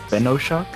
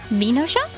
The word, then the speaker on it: Venoshock: It's like Venom, Venoshock. Venoshock? Oh, like Venom.